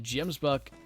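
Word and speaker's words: gemsbok: In English, you pronounce it Gemsbuck. In I'm just gonna say African. I imagine that's pronounced differently. You pronounce the drag the G.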